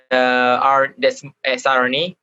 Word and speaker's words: siRNA: Is that how you pronounce it? siRNA, yes.